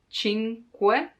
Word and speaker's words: cinque: The hardest thing to pronounce in this word is que, cinque, because there's the You have to stop a moment before adding que, because otherwise cinque, no. Cinque, take your time to pronounce it slowly, and then it will come more natural.